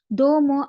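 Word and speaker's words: どうも: இதுலயும் பாத்தீங்க அப்படின்னு சொன்னா தோமோல வந்து தோக்கு பின்னால ஊ லெட்டர் காணப்படுது. இது லாங் வவல் ஆக்குறதுக்காக அப்படி காணப்படுது. ஆகவே நீங்க இதை ரீட் பண்ண போகல தோமோ அப்படின்னு ரீட் பண்ண வேணும்.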